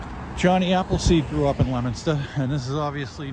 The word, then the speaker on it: Leominster: Appleseed grew up in Leominster, and this is obviously not the likeness of what Johhny Appleseed was seeing back in the day.